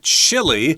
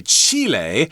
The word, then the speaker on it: Chile: got this country called Chile that's how we pronounce it in English but if you're speaking their native language of Spanish you'd say Chile so it kind of